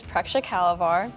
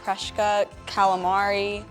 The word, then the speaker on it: Preksha Kalvar: My full name is Preksha Kalavar, and people pronounce it Preshka Calamari.